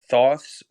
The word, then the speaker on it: thoths: for cash club are thoughts thoughts that's spelled t-h-o-t-h-s underscore thoughts the way it sounds t-h-o-u-g-h-t-s uh in that